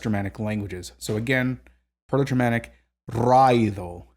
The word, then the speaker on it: Raido: And then we have, this is actually another one where people pronounce this as raido. Raido, I think. That actually makes absolutely no sense linguistically. It's raido. Raido.